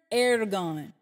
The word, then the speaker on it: ergon: The word work, write it down please, in Greek and Hebrew is the word ergon. And that's spelled E-R-G-O-N, ergon.